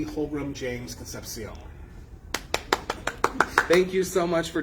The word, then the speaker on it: Concepcion: imperial court of buffalo connie b holbroom james concepcion thank you so much for joining us yes